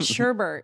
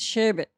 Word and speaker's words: sherbet: no no shave it it's sherbet it share it share it it's sorbet i swear that's how it's pronounced we're thinking of two